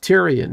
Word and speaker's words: Tyrion: Tyrion. That's how you're supposed to pronounce it.